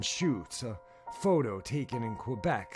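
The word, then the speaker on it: Chutes: you guys can just look up the Beast of seven shoots and shoots is spelled CH UTS it's quite an interesting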